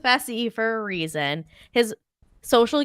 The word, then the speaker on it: Fessie: fessie like he is Messi rhymes with fessie for a reason his